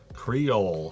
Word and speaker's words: Creole: Creole? Creole.